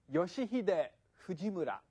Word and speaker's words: Yoshihide Fujimura: Hi, Yoshihide Fujimura. You remember how to pronounce the five vowel sounds?